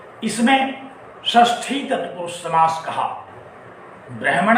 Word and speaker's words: षष्ठी: और तत्पुरुष समास में भी षष्ठी तत्पुरुष समास। ध्यान रखिए, षष्ठी का उच्चारण हम लोग इसी प्रकार किया करते हैं। कुछ लोग इसको खष्ठी भी कहते हैं, लेकिन पाणिनीय व्याकरण